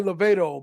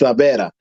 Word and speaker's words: La Vera: a lot of people say Lavedo, but he's saying it right. it's La Vera.